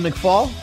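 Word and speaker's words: McFaull: I am Oh McFaul ah that's not it really it's like foul almost foul okay I got basically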